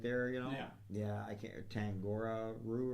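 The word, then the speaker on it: Tangaroa: Yeah, I can't, Tangora Roo or whatever. Kangaroo, yeah. It rhymes with kangaroo.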